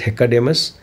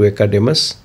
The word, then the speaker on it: Hecademus: Actually, the pronunciation is Hecademus, but slowly and gradually it got transformed into Academus, or many people started calling Hecademus as Academus.